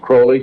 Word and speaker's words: Crowley: have his name pronounced Crowley to rhyme with holy and uh the satanists